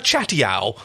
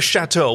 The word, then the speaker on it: chateau: So let's, instead of a castle, we'll have a chatty-ow. Right, instead of a chateau.